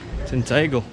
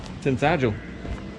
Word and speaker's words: Tintagel: you're out what a nice little place this tinle tinle one of them Tel tinel thank you s there we go just got